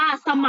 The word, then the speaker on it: เสมา: ประมา คำ ว่า เสมา เสมา ลูก อ่าน ว่า สะ เหมา กับ เสมา เสมา แล้ว